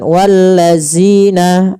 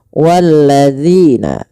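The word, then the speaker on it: وَالَّذِينَ: sini pada lafal zina hati-hati di dalam melafalkan huruf dal jangan sampai kita membacanya menggantinya dengan huruf zai misalkan walladzina ah ini salah kenapa karena dia merubah huruf dal menjadi huruf zai Bagaimana cara mfalkan huruf dalal?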